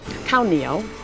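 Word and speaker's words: ข้าวเหนียว: Khao nio.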